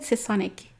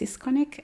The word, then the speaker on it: Sisconic: I said Sisonic in my Alexander saying only your name video, because yeah, but it's actually pronounced Sisconic, I found out.